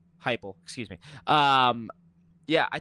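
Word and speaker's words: Heupel: I think Josh Hppel is over, that's how you pronounce it, right? Hufflep. Yeah, Hyple. Hyple, excuse me.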